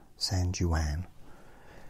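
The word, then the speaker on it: San Juan: um capital is San oh my goodness I pronounced that correctly as well I'll do it properly now sanan Jan sanjan official language is Spanish and English US Dollars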